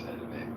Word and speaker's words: Edom: Is that a pronunciation? Yeah, it's just Edom.